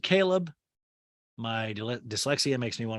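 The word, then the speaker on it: Chleb: her old acquaintance was cleb chubbs caleb his name is spelled c-h-l-e-b you pronounce it caleb my dyslexia makes me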